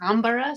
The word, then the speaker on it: Anbara: Yeah, it's Anbara, so it's Anbara. like Anbara, like Canberra.